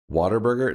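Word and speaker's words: Whataburger: So, it is it it's spelled what a burger, but everybody from the south calls it waterburger. In fact, so much so as a kid until I learned to read that I thought it was was water like the drink water, you know, I thought it was waterburger and I just discovered that's just how they say it here.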